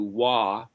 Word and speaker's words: Vav: Every time you have the O sound, you either have the letter Vav, or what somebody would pronounce as a W-A-W, Wah, or it's got a